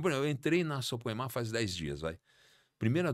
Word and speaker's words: Soprema: Depois de 18 anos eu saí, hoje estou na Suprema, que adquiriu a Denver, que é Suprema, né, como se fala. Suprema, isso aí.